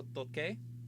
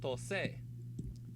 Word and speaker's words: toqué: The reason is if it were spelled like T-O-C-E accent, this would be pronounced tose. And that's not the word. The word is toque.